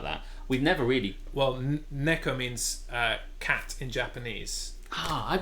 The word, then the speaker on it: neko: Well, neko means cat in Japanese. I've been saying Nico. Neko, because those are the sounds that I've been saying it wrong.